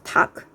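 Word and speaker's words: 닭: is the word tak it's d-a-l-k or d-a-l-g but it's pronounced as tak like talk means chicken in korean so this is tak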